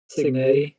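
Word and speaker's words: Cignetti: Signetti.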